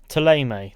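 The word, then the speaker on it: Thélème: Theleme, that's how you pronounce it.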